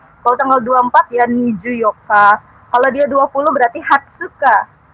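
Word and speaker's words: よっか: sampai 10 tadi kan 4 itu kan Yoka gitu ya bukan Yong tapi Yoka jadi Ju Yoka gitu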